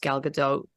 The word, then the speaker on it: Gal Gadot: person for the role, because not only is Gal Gadot, let me say her name properly, beautiful on the outside, but I think she really embodies what Wonder Woman really is.